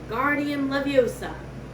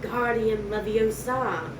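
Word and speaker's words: Wingardium Leviosa: much more luck when guardian leviosa he shouted waving his long arms like a windmill you're saying it wrong harry heard hermione snap it's when guardian leviosa make the gar nice and long you do it then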